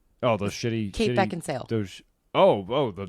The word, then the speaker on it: Beckinsale: And it's Beckinsale. Just in case you're listening, Kate, I know how to say your name. There's controversy over how to say her name. Oh, she wrote something on Twitter before that said everybody thinks her name's Kate Beckinsdale, Oh, but it's not.